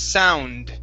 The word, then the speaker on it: sound: to uh sound okay this is an N right before the D okay so it's sound sound sound good good